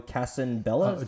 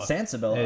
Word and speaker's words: Sensabella: with this guy, Joe Casabella. Sensabella. How do you pronounce it again? Joe Sensabella. Sensabella. It's Italian. It means without beauty.